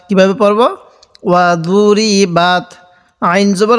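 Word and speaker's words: وَضُرِبَتْ: এই তায়ের সাথে বাত, ওয়া দুরি বাত। অনেকেই এই দরটাকে আমরা দাল উচ্চারণ করে থাকি, এটাকে দাল উচ্চারণ করব না। ওয়া দুরি বাত কীভাবে পড়ব? ওয়া দুরি বাত।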